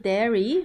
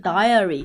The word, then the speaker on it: diary: 那么发音的时候呢，要稍微注意点，不是 dairy，是 diary，一定要 diary。